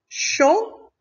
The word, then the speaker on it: chant: Chant, donc T est la lettre muette.